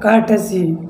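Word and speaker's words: courtesy: ऐसे ही क्या हो गया, कर्टसी।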